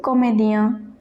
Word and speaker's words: comédien: Do comédien, IEN pronounced as ien. So comédien, it means actors.